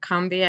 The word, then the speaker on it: Combahee: I think about the women of the Combahee River Colony, or Combahee, I think is actually how they pronounce it in South Carolina, during the Civil War.